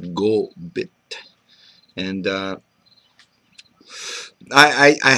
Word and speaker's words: Kopit: lodes fracking show and git in mcma means beaver and pronounced gbit and uh I I